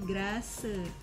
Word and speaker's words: Grasse: Grass. Oh, kayak rumput gitu ya, grass gitu. Kita ulang lagi ya. Grass. Jadi bacanya kayak baca rumput, jadi grass gitu ya. Nah, si grass ini dia adalah salah satu tempat ya.